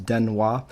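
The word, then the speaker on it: 電話: car were saying electric this is actually would be pronounced hanashi but put them together becomes den hua so that's an electric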